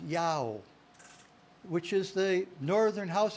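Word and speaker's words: IAO: And interestingly enough, in early England, they worshiped God by the characters I-A-O, pronounced Yao, which is the northern house of Israel's name for God, the house of Israel, there in ancient England, Yao, I-A-O.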